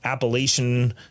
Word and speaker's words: Appalachian: d podcast us and three other uh rambunctious appalachian fellas record a a weekly you're not from